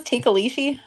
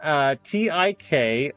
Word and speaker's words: Tikoloshe: Tikalishi? It's a weird name. Tikoloshe.